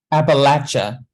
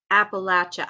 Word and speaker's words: Appalachia: Appalachia. Appalachia.